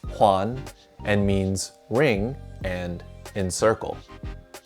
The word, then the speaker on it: 环: This character is pronounced huan and means ring and encircle.